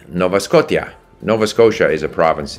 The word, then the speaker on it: Scotia: province in Canada right it's not that he can't pronounce sh he can pronounce this he pronounces sh very comfortably if it's sh but when it's t-i-a Scotia his his you know having it from check or whatever the those letters should be pronounced t-i-a-tia and again I I